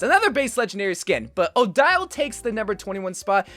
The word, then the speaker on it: Odile: perfectly with the name odile or ordeal how we pronounce it basically that translates